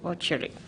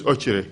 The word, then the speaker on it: Okyere: Ochiri. Ocheri? James we have Trrc and we have Ochiri. Yes, this is Ochiri.